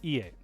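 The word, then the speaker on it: 家: to be very confusing, ie. Yeah, that is confusing. So it's not ie, which means no, it's ie. It only has one. It's one I versus two.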